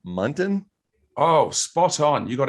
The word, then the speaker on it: Munton: james and i didn't ask him about her pronounce his last name muntin oh spot on you got it right first